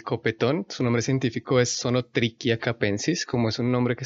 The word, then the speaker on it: Zonotrichia capensis: su nombre científico es song o tricky a capensis como es un nombre que está escrito en latín base la h no se pronuncia como un h sino como una c solo trick ya capensis